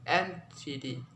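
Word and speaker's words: antedate: When these prefix form are three syllable, where there are usually primary stress on the first syllable followed by unstressed syllable and secondary stress on the third syllable.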